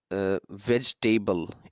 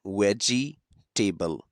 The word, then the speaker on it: vegetable: ये जो वर्ड है वेजिटेबल इसे आमतौर पर लोग प्रोनाउंस करते हैं वह जी टेबल हालांकि ये रोंग है यह वेजिटेबल नहीं है बल्कि वेज टेबल है वेज टेबल आप इसे